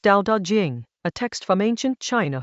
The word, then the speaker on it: Dao De Jing: Chapter 8 of the Dao De Jing, pronounced Dao De Jing, a text from ancient China whose title means